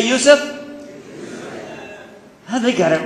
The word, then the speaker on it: Yusuf: we'll do it in English my name is Yousef can you say Yousef they got it right the very first time masah my wife still pronounces it useless could be a speech and peppermint I'm not